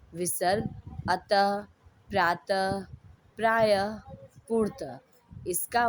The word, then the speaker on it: प्रायः: इनका उच्चारण ह की तरह, आधे ह की तरह होता है, लेकिन ह लिखा नहीं जाता है।